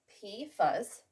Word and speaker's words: PFAS: besides hexavalent chromium well we've got pifas pronounced p fuzz and this lovely word